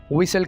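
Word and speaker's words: whistle: बजाने को इंग्लिश में विसल कहा जाता है दोस्तों यहां पर हम टी को साइलेंट रखेंगे दोस्तों हमारे साथ फ्री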